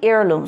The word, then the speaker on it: heirloom: So family heirloom. So the pronunciation is heirloom, not hair. এটা কিন্তু the H is going to be silent.